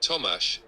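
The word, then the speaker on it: Tomáš: proper accent toas is pronounced like Thomas with the sh sounding like sh in English the a is short similar to a in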